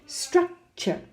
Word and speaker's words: structure: Well, the stress is on the last syllable. What does that mean? The stress is actually on the U-R-E part of the word. No? Allure, no? Allure. Compare with structure. Structure, it's on the first.